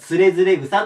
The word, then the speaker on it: 徒然草: 連れずれ草ですこれ読み方連れずれ草と読むんですがまず